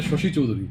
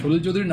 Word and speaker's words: সলিল চৌধুরী: একটা একটা জায়গায় প্রোনাউন্স হয়েছে শশি চৌধুরী। মানে সলিল চৌধুরীর নামটা পর্যন্ত কইতে পারছে না।